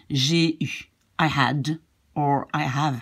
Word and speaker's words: j'ai eu: You say this av in the beginning becomes just an E and you pronounce it j'ai eu.